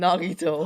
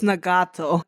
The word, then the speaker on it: Nagato: that guy was named Nagito. How's the show? It's Nagato. I'm like so close to all these names. I'm one syllable off.